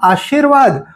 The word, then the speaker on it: आशीर्वाद: इसे कहते हैं आजमाइश और एक है शब्द आशीर्वाद और इसे पढ़ने में अक्सर यह गलती हो जाती है इसे कहा जाता है आशीर्वाद और एकय र जब